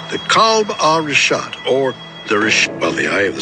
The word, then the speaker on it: Richat: I used to call it Ricat. I was mispronouncing it.